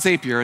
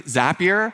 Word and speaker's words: Zapier: It's not Zapier, it's Zapier. Their marketing department wants me to tell you it rhymes with happier.